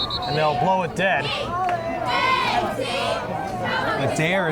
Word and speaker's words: Adair: Adair is spelled add-air, A-D-A-R, and that's about what he does when he runs. He adds air to his step as he's really quick.